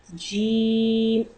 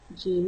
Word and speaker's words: ج: Jim. The letter of Jim pronounced from center of the tongue and middle of the palate. Jim is pronounced.